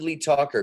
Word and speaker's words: Lee Tockar: pronounce the name incorrectly lee toker welcome lee that's right yes i should pronounce it lee talker because talking is what i do for a living for the most part